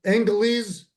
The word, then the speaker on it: Angeles: How do you pronounce it, Angeles? Angeles.